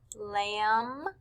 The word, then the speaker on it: lamb: sound were the words lamb and num both of these words end with m b so the sound we hear is um lamb numb for number three the